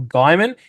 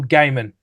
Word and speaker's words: Gaiman: out because you put you called him Neil Gman it's Neil gaim mate he's he pronounced his name Neil Gaiman not Neil Gman oh was that what